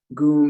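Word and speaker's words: gum: mantra to ganesh go goom is spelled g-u-m and it's the sound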